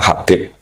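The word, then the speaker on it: حبيب: Itu di harakatnya kitab itu ada yang nulis khubb. Yang benar Oh, nggih. Yang benar itu bacanya Habib.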